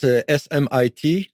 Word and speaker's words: Smit: Yeah, it's SMIT, no H.